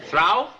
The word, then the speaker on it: through: Through? T-H-R-O-U-G-H is pronounced through.